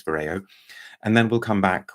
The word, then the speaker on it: Vyrao: uh BB paa and I think we're supposed to pronounce this Vero it's it's it's a UK based brand I'm pretty sure it's Vero and then we'll come